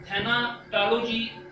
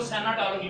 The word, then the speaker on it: thanatology: ये लिखा तो थैनाटोलॉजी, लेकिन इट इज प्रोनाउंस्ड एज सैनाटोलॉजी। इसको सैनाटोलॉजी पढ़ते हैं।